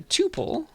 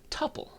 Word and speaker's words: tuple: pro announced as either tuple like i'm saying it or tuple okay like when you're saying quintuple or something that's how you pronounce